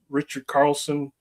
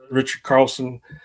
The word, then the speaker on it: Richard Carlson: I really liked Richard Carlson. Did I say his name right? You did. Richard Carlson and the lady that played his wife.